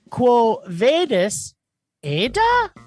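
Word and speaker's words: Quo Vadis, Aida?: Quo Vadis Aida? Quo Vadis Aida. Oh, there you go. Vadis? Vadis. Vadis? Vadis. It's just okay. Just how it's spelled.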